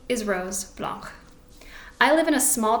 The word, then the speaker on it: Blanche: I believe it's pronounced Rose Blanche because she's German, and so her last name would not have a CH hard sound, but actually a sound.